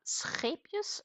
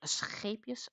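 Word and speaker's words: Scheepjes: a scus yarn and I should be able to reasonably pronounce the word scus correct because it is a Dutch brand uh but that said I am not having the 100% Dutch accent but I am getting reasonably close okay again that would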